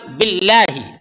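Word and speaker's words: بالله: اس کے بعد باللہ، یعنی اللہ کے لام کو باریک پڑھیں گے، موٹا نہیں کریں گے، تفخیم نہیں بلکہ ترقیق.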